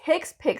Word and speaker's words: HCPCS: least that is my opinion so what does hicks pick stand for hcpcs it stands for health care